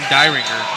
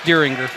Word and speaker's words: Deringer: Keep saying Dyringer. Deringer. That's how it reads, Dyringer. Yep. But it's Deringer.